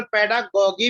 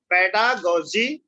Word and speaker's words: pedagogy: Okay, पेडागोजी या पेडागोगी, जैसे हम बायोलॉजी, मॉर्फोलॉजी, ठीक है, तो कंफ्यूज मत होना, that is your choice, पेडागोगी या पेडागोजी, दोनों आपके प्रोनाउंसिएशन ठीक रहेंगे, करेक्ट रहेंगे।